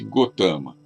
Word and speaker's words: Gautama: Escreve-se Gautama, mas pronuncia-se Gotama.